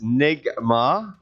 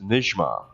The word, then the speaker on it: Nigma: you pronounce nygma's ah so there's two schools of thought on this it's Nick ma in English however the Arabic pronunciation is nish MA Najma so the N and the J sound come together with nothing in between and there's no there's no gene in Arabic it's a j @n j ma i